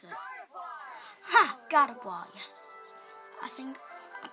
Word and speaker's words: Gardevoir: How do I pronounce it? Ha! Gardevoir, yes.